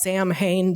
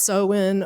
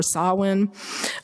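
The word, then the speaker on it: Samhain: beginning of um November is seen and it's spelled like Sam Hayne but it's pronounced soen or Sinn um and you may know that as Halloween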